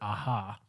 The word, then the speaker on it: Aja: a long story but here in spain we pronounce it aha or aha aha but